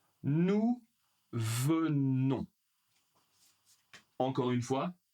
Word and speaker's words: venons: Nous venons. Nous venons encore une fois on ne prononce pas le s pour vous.